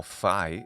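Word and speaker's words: phi: true for this letter which we call Fi in English or Fe sometimes and it has the sound P letter fi sounds different from letter Pi because the letter Pi is not aspirated P versus p the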